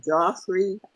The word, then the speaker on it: Joffrey: name again jofrey Joffrey J not Jeffrey but Joffrey Dr Joffrey Raymond who's